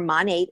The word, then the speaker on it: Monat: So it's Modern Nature, or Monate is how it's pronounced.